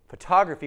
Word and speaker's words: photography: is stressed intelligent and photography photography wears the stress well it's on the T syllable photography still we want to keep the T and here are two